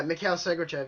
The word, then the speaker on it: Sergachev: Oh, why can I not pronounce this last guy's name? I'll help Mikhail you. Sergachev? Yeah, Mikhail Sergachev, yeah.